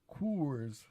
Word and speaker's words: Coors: Yeah, of course. How do you say it? Course. I mean, it's virtually the same thing. It's supposed to be Coors. Coors. You're supposed to, Coors. enunciate your double O's.